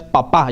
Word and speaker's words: papá: Papa, porque ya con el acento ya es papá, ya es más formal. Papá, con el acento en la A.